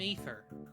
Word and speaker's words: Aether: I'm Aether.